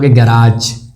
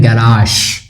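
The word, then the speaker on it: garage: जैसे इसको आप क्या बोलते हो, इसको आप बोलते हो गैराज, गैरेज, सोडी गैरेज, तारक मेहता में सुना होगा, नहीं, इसका प्रोनाउंसिएशन है गैराश, अगर एग्जाम में आ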